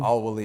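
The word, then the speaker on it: Al-Waleed: How do you pronounce that again? Al-Walid.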